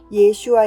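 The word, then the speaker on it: 예슈아: 예수 하라고 하는 것입니다 우리나라 사람들은 예수 라고 하지만 본래 발음상 펴기 이름은 예 슈아 입니다 이스라엘에서 유학한 복사나 이스라엘에서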